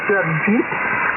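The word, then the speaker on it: Jagjit: I'll spell it for you. Juliet Alpha Germany Juliet India Tango. Pronounced as Jadjeet.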